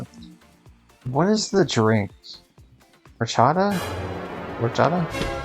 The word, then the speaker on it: horchata: Yeah, you wouldn't pronounce the H. Sorry, my brain died when that sound effect played. You wouldn't pronounce the H, but yeah, horchata.